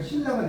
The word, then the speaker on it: 신라: 여러분 신라 고구려 백제 신라 할 때 신라가 아니라 신라가 되죠. 네. 그러니까 이게 신인데 리을의 영향을 받아서 리을이 돼.